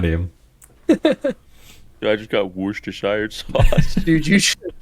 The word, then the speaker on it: Worcestershire: Dude, I just got Worcestershire sauce.